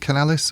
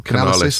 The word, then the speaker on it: Canalys: Is it Canalys or Canalys? I think they pronounce Canalys, was saying that by